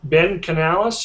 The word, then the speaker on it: Canales: But anyway, to my far left here, we have Ben Canales. Am I pronouncing the last name right?